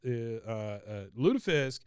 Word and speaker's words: lutefisk: Pronounced Lutefisk in northern and parts of central Norway. In southern Norway, it gives all the pronunciations.